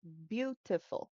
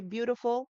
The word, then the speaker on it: beautiful: So, for example, let's say the word beautiful. Beautiful. We say beautiful, but sometimes they have beautiful.